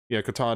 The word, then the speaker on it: Qatar: UK, the Sleeping Giant, Australia, Qatar, I think, Qatar, that's how you pronounce it.